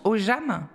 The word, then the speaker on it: Ogham: Toi, tu le prononces Ogham ? Non, Ogham. On ne prononce pas du tout le G, en fait.